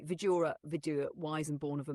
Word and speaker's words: Vidura: Okay, architect, let's continue with the life of Dhritarashtra, Pandu, and Vidura, if I'm saying it right.